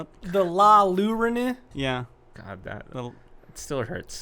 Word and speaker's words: Llorona: The La Llorona. Yeah. God, it still hurts. Why are there so many L's in a word that is pronounced with a Y?